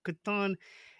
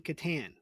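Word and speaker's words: Catan: game the set of I pronounce it the Dutch way Katon see but it still sounds right you know Katon is better than Katan so even in Dutch it sounds correct to me uh so what is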